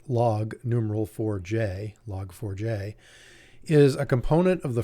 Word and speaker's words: Log4j: get a little technical log forge sometimes pronounced literally as it's spelled log numeral 4j log4j is a component of